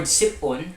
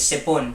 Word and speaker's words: sip-on: The word sipon, now you don't read this as sipon. We read it as sip-on. So there's that dash there to indicate that it's supposed to be separated to a different syllable.